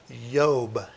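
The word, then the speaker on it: איוב: first one being job job is pronounced yob in hebrew and it begins with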